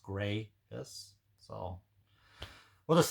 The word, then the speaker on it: gravis: i s but according to the website it's pronounced grais so we'll just say mg uh mg is